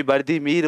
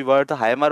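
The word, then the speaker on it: Wertheimer: मर कौन मिलेंगे वर्दी हिंदी में कोई वर्दी मर बोलता है कोई वर्थ हाइमर बोलता है तो कुछ जो प्रोनाउंस एशन आपको अच्छा लगे कर लेना बट हमारा तो क्वेश्चन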